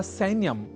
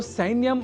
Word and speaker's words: सैन्यम: ही चुके हैं कि सैन्य या सैन्यम में ऐ इस अक्षर का शुद्ध उच्चारण करना होता है आवश्यक अर्थात सैन्यम को सैन्यम इस रूप में हमें नहीं उच्चारित करना है क्योंकि संस्कृत एक